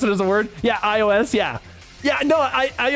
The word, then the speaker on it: iOS: Funny hearing you try to pronounce it as a word. Yeah, iOS. Yeah. Yeah. No, I I always pronounce it iOS.